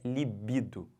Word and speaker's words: libido: quê desejo sexual tesão Tá bom mas a pronúncia correta é libido e detalhe essa palavra é uma palavra feminina